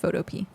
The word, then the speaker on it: Photopea: It's just Photopea. But spelled like the fruit, or like, not the fruit. Jeez. No, not fruit. Vegetable. Like a P. P-E-A.